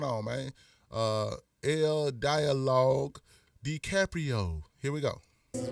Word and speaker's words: DiCaprio: This again, this is uh damn L dialogue the it's spelled D I C A P R I O. You know what I'm saying? Uh, decree decaprio.